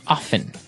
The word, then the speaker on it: often: people like to pronounce often right they kind of leave out the strong T sound well other people say off often that's right both forms